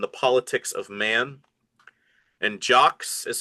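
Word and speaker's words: Jacques: And jocks is spelled J A C Q U E S and then a LOL E L L U L.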